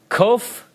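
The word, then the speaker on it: קוף: word Sadiq all right Hebrew letter Cove Cove alright it has an English approximation if you'll look at your chart you'll find it it has a K sound Cove Hebrew letter race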